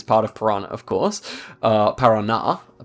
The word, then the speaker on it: Paraná: Then we have Santa Catarina, we have Parana. Okay, Para also is part of Parana, of course. Paraná, pardon me.